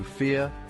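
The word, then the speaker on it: vier: The V sounds like F and I sounds like E. So fear, dry, fear.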